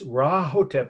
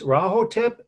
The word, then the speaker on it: Rahotep: and his wife, Prince Rahotep. Don't ask me to spell it. It's like it sounds, with an R. Prince Rahotep and his queen, his wife, well, then she was princess, and Princess Nofret.